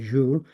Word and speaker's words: Jules: He was French, so we pronounce it Jules, and Jules Isaac, who